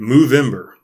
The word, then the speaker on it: Movember: month I'm calling it move in bur it's spelled Movember so it's just like November but it's good it's an mo on the front stead of an end clever I don't know